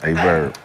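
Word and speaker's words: AyeVerb: Spell it. A-Y-E-V-E-R-B. A-Verb. A-Verb.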